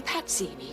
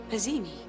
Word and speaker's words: Pazzini: It should have been Pazzini. She pronounced it Pazzini.